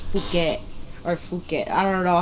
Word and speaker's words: Phuket: But the ramen over there was good, and then we stayed in Bangkok for 2 days, and then we flew to Phuket for 8 days.